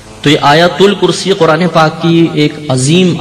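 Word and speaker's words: آیتُ الکرسی: یہ عوام الناس میں تلفظ کہہ لیں یا اعراب کی غلطی کہہ لیں، یہ غلط طریقے سے ہم کہتے ہیں آیت الکرسی. صحیح لفظ ہے آیت الکرسی، تا پہ پیش پڑھا جائے گا.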